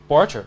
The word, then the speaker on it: Borchert: Borchert. Mm-hmm. Okay. Pretty straightforward American pronunciation. French name though, right? Yeah. German, actually.